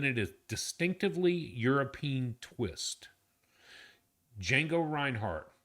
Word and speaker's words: Django: is distinctively European twist Django Reinhart. And yes, the D is silent Edge.